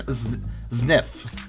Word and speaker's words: Zniw: How do I pronounce this again? Zniw.